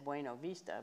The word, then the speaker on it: Buena Vista: out really for uh buena vista uh a lot because nobody else in the world says buena vista they they say it like it's supposed to be said bueno vista but but but let's